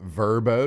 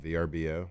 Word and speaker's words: VRBO: got a little verbo. Did y'all know you pronounce it verbo, not VRBO?